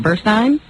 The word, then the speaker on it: Burstein: Burstein. How do you spell it?